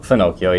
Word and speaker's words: Fenocchio: a Christmas tree, opening a beautiful Barbaresco, the Fennochio. Is that how you pronounce it? Renato Fenocchio, yeah.